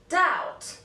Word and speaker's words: doubt: lamb comb thumb too the letter B is also not pronounced after the letter T for example doubt Det subtle letter C